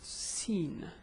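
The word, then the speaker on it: س: It's Siin. The pronunciation is Sa. If I add alamat al-tashkil, it will be Sa, Su, Si.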